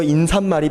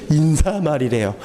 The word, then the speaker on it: 인사말: 인사말이 편해요? 인삿말이 편해요? 인삿말이 편하죠. 근데 표준 발음이 뭐래요? 인사말이래요. 그러니까 사이시온 안 넣어요.